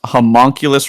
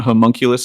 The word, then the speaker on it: homunculus: Uh, oh, yes, I pronounced homunculus wrong. It's not homunculus, it's homunculus.